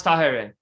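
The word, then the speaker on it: Táhirih: is how it sound so that's how you pronounce tahereh yes that's how it it all right there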